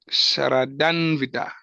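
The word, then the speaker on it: श्रद्धान्वित: How do you pronounce it, Prabhu? Shradanvita. Shraddhanvita.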